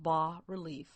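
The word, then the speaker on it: bas-relief: says b as s but it's pronounced bar relief and a b relief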